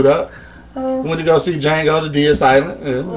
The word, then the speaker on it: Django: Django. Right, the D is silent, right? The D is silent. Django, you know what I'm saying?